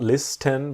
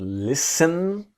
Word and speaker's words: listen: to this idea that the T is silent it's not list n but listen to listen to me